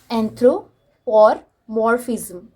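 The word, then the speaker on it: anthropomorphism: एंथ्रोपोमॉर्फिज्म, okay, ये word थोड़ा difficult है प्रोनाउंस करने के लिए, बट इट्स एंथ्रोपोमॉर्फिज्म।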